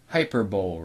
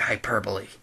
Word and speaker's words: hyperbole: wrong I don't care unless I'm pronounced like hyperbowl wrong you pronounce it hyperbole whatever well let me